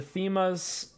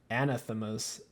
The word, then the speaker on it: Anathema's: we're gonna get the fema's and then we'll get agonies i'm not saying it right it's uh anathema's anathemas and then we'll get